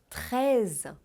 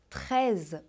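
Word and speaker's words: treize: Idêntica não é mesmo veja bem reza reza o som do i é aberto reza como se fosse é ele não é fechado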